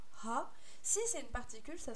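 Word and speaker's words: は: que dans Dewa Arimasen, c'est Ha, mais ça se prononce encore Wa. Alors oui, ça c'est pareil, c'est parce que ça vient de la particule, justement. Quand c'est une particule, on le prononce Wa.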